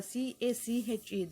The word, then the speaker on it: cache: The cache memory the CACHE, the spelling pronounced as cache, it placed in between the CPU and memory.